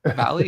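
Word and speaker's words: Vahle: Jeff uh Valley, is that how you say his name?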